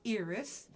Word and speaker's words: Iris: It is pronounced Iris, the soft I.